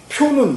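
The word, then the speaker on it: 殍: 표는 이게 시체예요. 이게요. 요것도 발음이 두 개예요. 보통 여러분은 부로 많이 읽을 거예요. 부는 이게 풀이에요. 그냥 자풀. 근데 송장을 가르칠 때는 표로 읽어요. 표.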